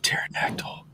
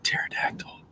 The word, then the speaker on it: pterodactyl: you is my fo why can't you hear a pterodactyl going to the bathroom kiss the p is silent oh my God